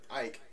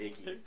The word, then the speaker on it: Icke: So Shine would then tell Ike, I kept wanting to call it Icky the whole time because it is spelled I-C-K-E, and I am like trying so hard not to say Icky.